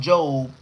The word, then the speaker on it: Job: She said, Job is pronounced Job.